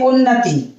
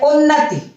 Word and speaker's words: उन्नति: तो सबसे पहले मैं देखिए लिखती चल रही हूं साथ में उन्नति शब्द बोलते हैं उन्नति, और जबकि होता है उन्नति।